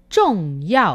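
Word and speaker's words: 重要: aparece también la palabra son ya o con esta pronunciación zh zone que significa importante y si os habéis fijado la z h se vuelve a pronunciar sin aire trong ya encontraste a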